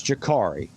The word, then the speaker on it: Jakari: It's Jakari. It's a U, pronounced as an A. Just get used to it.